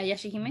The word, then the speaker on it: Yashahime: which by the way, the new one, the Yashahime am I pronouncing that one correct? Yeah, Yashahime.